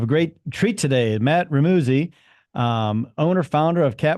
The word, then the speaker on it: Remuzzi: It's Remuzzi. It rhymes with Remuzzi.